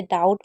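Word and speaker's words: doubt: Rule number 18 है कि कभी भी बी और टी साथ में आएगा तो बी हमेशा साइलेंट रहेगा। जैसे डाउट में आप देख रहे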